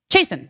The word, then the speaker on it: Chasten: Does it rhyme with T. Jason? Chasten. Yeah, that's right.